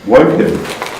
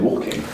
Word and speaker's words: Woking: Woking. Yeah. I heard people pronounce it walking. Well, if they do, they're fucking idiots.